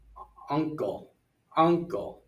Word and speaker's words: uncle: And uncle, first syllable.